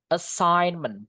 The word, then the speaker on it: assignment: Assignment bacanya kayak gini. Oke. That assign G-nya enggak dibaca ya.